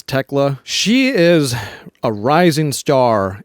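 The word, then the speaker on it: Thekla: The third one, Techla or Teela, however it's pronounced. Um, I hear both. I think it is Techla.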